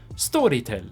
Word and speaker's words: Storytel: And we're talking about Storytel, 1L, or if you're pronouncing it in the original Swedish, Storytel.